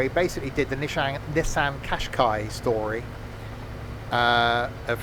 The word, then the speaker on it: Qashqai: Yeah, it's pronounced Qashqai.